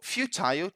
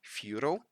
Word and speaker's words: futile: is futile for you so futile just a quick remark that would be the British pronunciation right the American pronunciation would be something like furo and that means useless